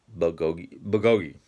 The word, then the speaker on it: bulgogi: It's I used to call it puh, but it's not. It's or bulgogi.